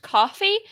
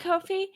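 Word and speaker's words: Ko-fi: to help us out I think it's actually supposed to be pronounced coffee but it does look like Kofi yeah so coffee Kofi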